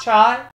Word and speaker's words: cha: It was spelled C-H-A, but it's pronounced chai.